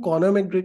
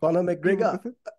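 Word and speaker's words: Conor McGregor: just হরফের মাথায় আসলো যে আপনাকে কখনো আমি কর্নার ম্যাগ্রিক নিয়ে কথা বলতে দেখি নাই আয়ারল্যান্ডের না কর্নার ম্যাগ্রেট আইল্যান্ডের ভাই আপনি ভালোভাবে প্রোনাউন্সিয়েশনটা করবেন আমি না বুঝা কর্নার ম্যাগ্রেগার কর্নার ম্যাগ্রেগার খুবই বড় ফাইটারেগার ওকে খুবই বড়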